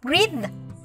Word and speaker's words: breath: Vậy thì câu B sẽ đọc là Z bởi vì chữ TH lúc này nó phát âm là chữ D. Và câu B chúng ta sẽ đọc là breathe.